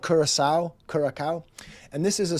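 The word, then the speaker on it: Curaçao: So he didn't learn that that little sadia on the sea makes a soft C and it makes it Kurasau instead of Kuraka.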